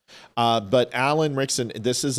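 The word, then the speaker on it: Ritchson: I've changed it to Rickson because I just believe you that's how you say his name. But Alan Rickson, this is a...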